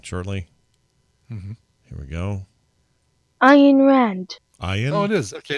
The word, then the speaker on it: Ayn Rand: Ayn Rand.